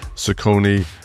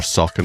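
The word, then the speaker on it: Saucony: We cover a lot of brands, but really focusing on Sakonei or Sakin as I learned to pronounce it from Ian um Asex and Adidas.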